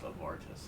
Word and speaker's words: Abertis: Hey, Abertis, thank you for following the stream, man. Appreciate that. Yeah, that's pronounced Avartis.